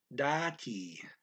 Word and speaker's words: dati: can put the word dati. That's spelled D-A-T-I, dati, dati. The da is kind of quick and the T is kind of long, dati.